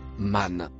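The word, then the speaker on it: من: Le mot bleu se prononce man.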